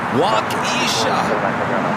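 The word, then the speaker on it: Waukesha: much Mark wakisha wakisha oh wakisha Wisconsin is pronounced wakisha waa well I've never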